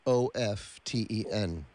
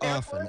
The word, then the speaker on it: often: butterworth let me ask how do you pronounce the word o-f-t-e-n often often often depends i always say often i think often is incorrect i say often i don't it's not incorrect those just have to do with regions and and